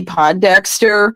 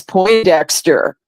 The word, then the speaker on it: Pondexter: me remember when campy Pondexter was um was on the New York Liberty and Bill lambir was the coach yeah well I had mispronounced the name to as po Dexter and and Bill lamb